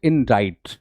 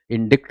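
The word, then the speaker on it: indict: अगला शब्द है इंडाइट। इसकी प्रोनाउंसिएशन थोड़ी अलग हो जाती है, इंडिक्ट नहीं बोलते।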